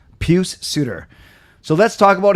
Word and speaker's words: Pius: you say it puce it's p-i-u-s but it's not Pious like you know church and and and good morals I'm sure although I'm sure you he he might be but it's puce peuce puce like pew pew s or or don't say